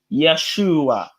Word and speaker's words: Yeshua: please hear me bro when you look at the hebrew way of saying jesus it's actually yeshua yeshu so when we say jesus